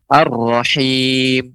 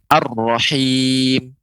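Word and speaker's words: الرحيم: audzubillahiminasyaitonirojim Halo Bismillahirohmanirohim Rohim pengucapan rahim lebih ditipiskan pengucapan H plus him ya bilang Ibu gila Iroh Man nirrohim ar-rohim coba diucapkan bu ar-rohim ar-rohim ya curut Ha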